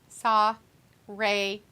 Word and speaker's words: Saraya: in between each letter well you say every one of the A's saw Ray uh don't try to